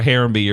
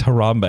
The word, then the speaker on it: Harambe: like much love for harembe or something was their teammate like they would laugh at me every time i'm like am i saying it wrong they're like it's harambe and i'm like oh